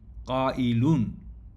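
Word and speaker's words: قائل: অর্থাৎ এই কাবিলুন এর ওয়াও বদলে তা হামজা হয়ে যাবে। তখন উচ্চারণ হবে কাইলুন।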